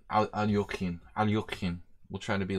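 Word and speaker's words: Alekhine: So things like the Alyakin's defense. I mean Alyokhin.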